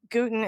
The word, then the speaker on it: Gutin: Gutin is the second most popular way to pronounce it. Gutin is the way that we go.